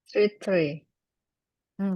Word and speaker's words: three: Kalau pohon, Three. kalau pohon kan Three. tree, jelas ya, tree. Three. Kalau Three. ini three, three. Three. Three. Kayak pakai sa, three.